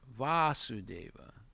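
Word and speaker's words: Vāsudeva: son of vasudeva and his name is vasudeva with a long a and his father's name is vasudeva with a short a so that means krishna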